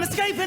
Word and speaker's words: escaping: And notice how the center syllable is longer in duration, louder, and higher in pitch. Watch me engaging them, escaping them, enraging them.